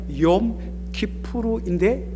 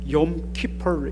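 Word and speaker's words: יום כיפור: 10월 중순 정도 되면 이 인근에도 그 유대인들 시나고그가 많은데 유대인들 특별한 절기로 지키는 욤 키포르, 정확하게 말하면 욤 키푸르인데 이걸 영어식으로 발음해 보니까 욤 키포르 이렇게 발음합니다.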